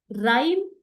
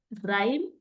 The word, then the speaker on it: rhyme: In the word given also all the letters are pronounced, but in the word rhyme H is silent again.